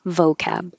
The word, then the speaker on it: vocab: to vocabulary vocabulary but if you use the short term vocab like let's do some vocab practice the stress is now on vo and it has to be an o vocab sin is it your